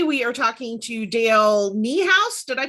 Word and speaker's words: Niehaus: Today we are talking to Dale Niehaus. Did I pronounce that right?